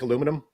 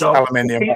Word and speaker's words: aluminium: Is that anything like aluminum? Yes, aluminium. It's like aluminum, correct. But it's the correct word. Yeah. Aluminium. Yeah, aluminium. Correct pronunciation. Queen's English.